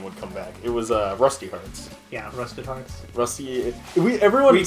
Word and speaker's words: Rusty Hearts: call it Rusty Hearts, but they never pronounced the E part of it in any of the trailers or promotional stuff. So everyone just calls it Rusted Hearts. Everyone knows it as Rusted Hearts, but it's Rusty Hearts.